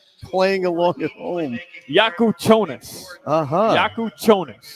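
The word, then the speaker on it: Kasparas Jakučionis: By the way, I looked up uh the pronunciation for anybody playing along at home, and it is Casperus. Playing along at home. Yakuchonus.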